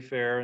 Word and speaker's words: Fehr: So as Trenton said, my name's Gary Fehr, and that is pronounced correctly.